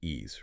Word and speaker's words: Ys: Y is pronounced E's, right? That's the one, released in 2006.